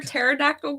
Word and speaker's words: pterodactyl: can't you hear a pterodactyl going to the bathroom why can't you hear a pterodactyl going to the bathroom I don't know why because the p is silent because the p is